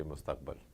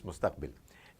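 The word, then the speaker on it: مستقبِل: Instead of saying mustaqbil, you would say mustaqbal. You know, his mustaqbal is not right. But obviously, it's mustaqbil.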